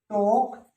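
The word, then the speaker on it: talk: तो तुम यहां क्या सीखे, तुम यहां ये सीखे कि एल साइलेंट किस किस वर्ड में रहता है, बाम, पाम, टोक, वॉक, आर्म्स, चौक और काम, लै नहीं है किसी में।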